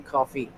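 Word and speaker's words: CFVY: I think it's like CFFV is their initials, so that's why they're pronounced Team Coffee.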